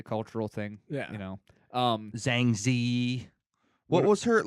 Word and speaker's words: Zhang Ziyi: a it's a cultural thing yeah you know zhang ziyi what was hurt like what was her deal